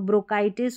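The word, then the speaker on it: bronchitis: काई सी एच आई को काई क्योंकि सी एच को हम क प्रोनाउंस कर रहे हैं। तो ब्रोकाइटिस हो गया और ये हो गया स्टमक। स्टमक इसका ज्यादा यूज़ होता है। तो सीएच यहां पर क प्रोनाउंस हुआ है।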